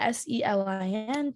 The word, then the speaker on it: Selin: If it's spelled Celin, then it's fine. People know it's Celine. Oh, okay, great. But like the Selin thing is kind of confusing for people.